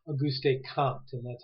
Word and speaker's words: Comte: In the slides, I apologize, I can't advance right now, but you'll see names like Auguste Comte, and that's how you pronounce it.